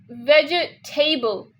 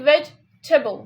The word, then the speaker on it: vegetable: And some people also say vegetable. Even though they don't say veggie, they say veg, but in the between they say tay. So इसमें कोई tay नहीं आता, ठीक है? They say you have to say vegetable.